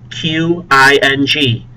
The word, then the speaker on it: Qing: Q-I-N-G. It's pronounced Qing, the Qing rule.